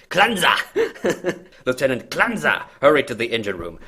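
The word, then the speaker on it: Klenze: to the engine room that's the only way i can pronounce his name properly now because i'm i'm constantly worried i'm going to say cleanse and that doesn't sound proper right it's it's spelled k-l-e-n-z-e by the way okay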